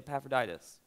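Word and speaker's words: Epaphroditus: paul through this person named ephraidus everybody say paphroditus when you get to a word that looks like that just go with that pronunciation save us all like faith in in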